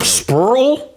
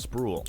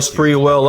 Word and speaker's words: Sprewell: Spurl? Nigga didn't even try to pronounce his name. You could have put his name in the Google Translator to see what they said. You could have looked up the interview to see how they pronounce. Like, nigga just said Spurl.